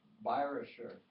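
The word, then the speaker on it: Bayerischer: course that was the byrosher viruser means bavarian uh the german pronunciation pronunciation of bavarian chorus and then there was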